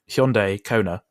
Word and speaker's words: Hyundai Kona: Let me just get this pronunciation right, based on your video. Hyundai Kona.